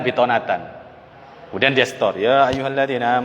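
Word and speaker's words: بطانة: Ketika setoran dia bacanya ya ayyuhalladzina amanu la tattakhidhu bitoatan, bukan bitonatan. Bukan bitonat. Yang benar kan bitonatan.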